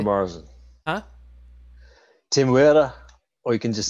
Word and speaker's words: Temuera: Temuera Morrison. Huh? Temuera, or you can just say Temuera.